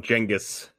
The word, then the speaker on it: Genghis: Yeah, I like how you call them Genghis. That's the correct pronunciation.